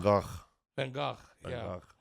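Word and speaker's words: Van Gogh: I found out that we're the only one that pronounced the van go what they call Van van vanok when when first vanak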